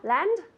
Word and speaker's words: land: Good, with the D. I can see her and she goes, land, land. It's not land. Okay, so really strong.